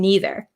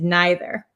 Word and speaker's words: neither: And we can pronounce these two ways. So my pronunciation as an American from Wisconsin, I say either and neither. But other people in America, and I think in England, if Simon's in here, you can correct me. Some people say either and neither. Okay, so both are correct.